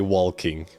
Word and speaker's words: walking: Well, I don't pronounce the L in that. Okay, shush. It's it's it's a personal preference on some words. I don't say walking.